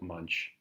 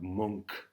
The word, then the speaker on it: Munch: I know it looks like Munch, but that's not how you say it. He's a Swede, so different pronunciation. Edvard Munch.